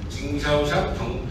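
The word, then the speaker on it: 经销商: 징샤오샹, 한국 발음으로 하면 경소상, 중국 발음으로 하면 징샤오샹이라고 하는데 이렇게 됩니다.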